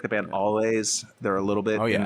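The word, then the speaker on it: Alvvays: Um, is that how you say it? There's two V's. I know. Oh, I I And I say always and someone made fun of me.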